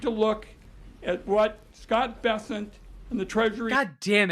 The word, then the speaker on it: Bessent: We need to look at what Scott Bessent and the Treasury...